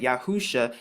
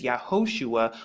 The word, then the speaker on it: Yahusha: why I arrive at yahusha now you can find I'm more about this in Strong's h3091 now of course the pronunciation that they're going to give you is yahushua but we're going to find